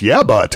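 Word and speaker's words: Yabut: services dr eduardo p it's yeah but actually which is an awesome name it is spelled y-a-b-u-t okay cool so eddie yeah but yeah about 533 000.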